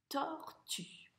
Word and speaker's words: tortue: Donc celui-là, on ne va pas le prononcer. Tu vois, on a bien dit une tortue.